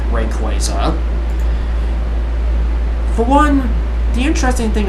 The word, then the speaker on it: Rayquaza: Because basically, the Quay part is basically representing that of Quasar.